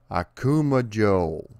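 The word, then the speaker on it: 悪魔城: take a moment to learn the proper pronunciation akuma joel akuma joel akuma joe akuma joe and now i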